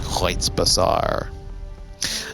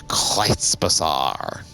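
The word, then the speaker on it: Kreuzbasar: Over the rainbow here in the Kreutz Bazaar. Now that I actually know how to say it correctly, I'm taken to saying it as many times as humanly possible. The Kreutz Bazaar.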